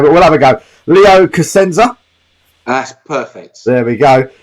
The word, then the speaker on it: Cusenza: because the first challenge is going to be pronounced in your last name but we'll have a go leo casenza that's perfect there we go uh he's joining